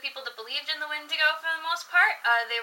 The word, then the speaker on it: Wendigo: come near you I've never heard it called a windy go before it's a Windigo that's always what I grew up hearing I have son flicked